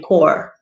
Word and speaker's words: corps: pronounce the p but we're talking about the marine they don't normally pronounce the p it's marine core something like that so